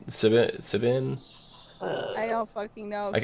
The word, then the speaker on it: Siobhan: Sibin? I don't fucking know. I don't know how to pronounce the name. It was Siobhan.